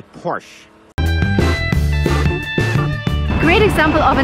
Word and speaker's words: Porsche: is called Porsche, and that's the right way to pronounce it. Because it's a German name, the stress goes to the first part of the word, and we say Porsche. Remember, never say Porsche.